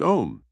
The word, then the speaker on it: om: Relax your mind and body by gently humming the sacred mantra om pronounced om about 10 times.